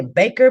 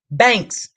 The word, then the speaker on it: Banks: know if I say Baker banker whatever I think everybody got your name wrong huh banks banks ok um somebody wanna